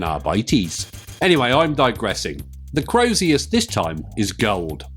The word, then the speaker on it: Crozius: It took me many years to understand how to pronounce Crozius. As a kid I couldn't say it. I always called it Acerlius or something.